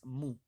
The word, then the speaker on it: mu: the Greek lowercase move now it's called it's pronounced as mu as this sign that you can see I